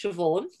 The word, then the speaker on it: Siobhan: I'm going to let her introduce herself because I think it's pronounced Siobhan, even though it's a B.